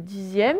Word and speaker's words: dixième: Le dixième, c'est D-I-X-I-M-E. Et là, c'est pareil. Le X, il se prononce Z.